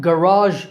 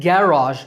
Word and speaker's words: garage: However, there are some words with differing stress patterns, like garage in American English, stress on second syllable, and garage in British English, stress on first syllable.